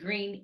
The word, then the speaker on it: Greene: Don't forget that E because it is green E. It's green, but it's spelled like greenie.